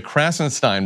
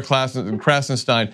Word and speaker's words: Krassenstein: He's a Klippenstein, they're Krassenstein, and the device I use to remember the difference is the first syllable of their last name is Crass, which means thoughtless and ignorant, and the first syllable of Ken's last name is Clip, which is the part of a firearm you put the bullets in.